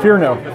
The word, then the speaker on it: Fearnow: Fearnow? Fearnow? Fearnow.